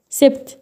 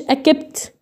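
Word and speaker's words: accept: سبت. ليه نطقتها كده؟ ما قلتش اكبت، ما قلتش اسبت، ما قلتش حاجه من الاثنين دول.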